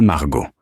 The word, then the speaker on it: Margaux: Besides, it is pronounced Château Margaux. The T at the end of Château is silent, as is the X at the end of Margaux. This is basic.